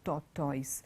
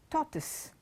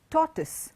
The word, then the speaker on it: tortoise: But that's not how you pronounce that word. It's not tortoise. It is tortoise.